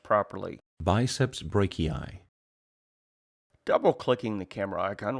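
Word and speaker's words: brachii: the icon once you can hear the name pronounced properly biceps Breaky eye double clicking the camera icon will show a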